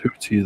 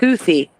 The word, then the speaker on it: Houthi: But they're both pronounced. They're both pronounced Hootie, though, right? Like without the H sound. No, Really? it's pronounced Houthi.